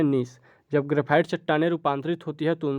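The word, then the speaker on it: gneiss: ठीक है, यहाँ पर जी जो है वो साइलेंट हो जाता है, नीस ही वाक्य में प्रयोग आता है।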